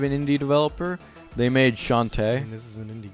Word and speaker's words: Shantae: They made Shantae. And this is an indie game. Shanty. No, Shantae. Yeah, Shanty. Not Shanty, Shantae. Yeah, Shanty. I mean, are you black? It's Shanty. No, it's Shantae.